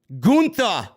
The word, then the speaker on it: Gunther: I say Gunther because that's the way he pronounces it.